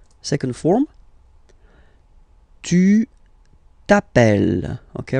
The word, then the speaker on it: t'appelles: All right, second form, tu t'appelles. Okay, remember, final s not pronounced, tu t'appelle.